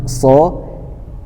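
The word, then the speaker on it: ص: tidak ada penekanan khusus sementara huruf so kita tekan ya teman-teman ketika kita mengucapkan huruf sho ini seakan-akan mulut kita ini terasa sempit karena ada tekanan yang berlebih di dalam hurufnya itu so terasa menyempit teman-teman kemudian lidah kita terangkat lidah kita terangkat kemudian diusahakan ketika kita menyebutkan huruf tersebut maka terasa berat huruf tersebut diucapkan Nah itu karena huruf so termasuk dalam huruf yang dibaca tebal berikutnya adalah huruf huruf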